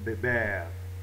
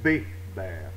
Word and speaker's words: beber: Beber. Beber. Ça finit par un R, donc une consonne qui n'est pas S ou N, donc l'accent se fait sur la dernière syllabe. Ce n'est pas béber, c'est beber.